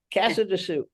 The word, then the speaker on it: Casadesus: say well you know the name is originally actually Catalan from Catalonia but the pronunciation sort of rhymes with Calamazoo Cassadoo a lot of people